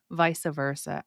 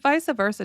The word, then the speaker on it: vice versa: We don't have many words that are spelled VICE that are pronounced Visa.